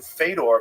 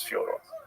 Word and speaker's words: Fedor: I'm like, "Yeah, well that's kind of the accepted American pronunciation of Fodor, though." So, I I wanted to ask you if it was Fodor.